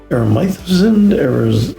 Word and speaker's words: Aresimowicz: Aresimowicz, A to Z, Dad, Coach, Leader, Friend.